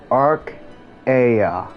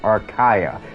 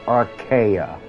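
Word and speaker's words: Arkaya: known as archaea a-r-k-a-y-a Arc Aya um for some reason a lot of people will live and whatnot keeps trying to pronounce my name archaia now it's archaea anyway I won't go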